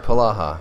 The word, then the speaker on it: Polaha: And you said it right, Polaha.